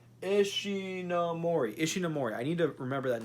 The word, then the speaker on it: Ishinomori: guy who created Kamen Rider and Super Sentai, Shinomori. Am I pronouncing his name right? Ishinomori.